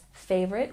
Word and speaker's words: favorite: And remember, when we pronounce favorite, we stress the first syllable.